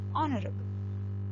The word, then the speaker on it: honorable: Though the first letters are H. H is a consonant. Though it is a consonant, in these two words, hour and honorable, it is silent. It is silent, and it begins with a vowel sound.